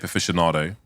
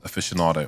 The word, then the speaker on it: aficionado: Before I knew how to pronounce aficionado, I said aficionado. Oh no. Yeah, I didn't know. Because, you know, there's a lot of words like you read in books and you think you pronounce them one way, but they are pronounced another way. So I said aficionado instead of aficionado. I mean, it's an Italian word.